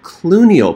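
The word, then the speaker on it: cluneal: to talk about something called clue niall pain sounds like George Clooney just not spelled the same so these are the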